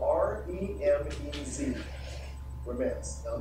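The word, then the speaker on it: remez: doing is he was doing a thing called romance can you say that with me romance is spelled r-e-m-e-z romance now i'm not gonna get anything difficult i'm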